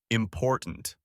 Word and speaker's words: important: Take the word important. We stress the second syllable. Important. Now you say it.